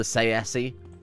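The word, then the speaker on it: Tsaesci: And then you got the weird sort of vampiric snake people, the Sayesi, which is apparently how it's pronounced. Michael Kirkbride says so, and everything he says is gospel to me, as far as I'm concerned.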